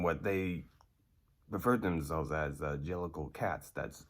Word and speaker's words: jellicle: they prefer themselves as jellicle cats that's j e l l i c l e and johnny for the record when you ended up saying it you'd say jelsicle okay it's not gel cycle it's angelico the jellicle